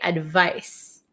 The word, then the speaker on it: advice: it's so tricky right advice has an S sound but it's spelled with a c advise has a z sound but spelled with an S uh why is English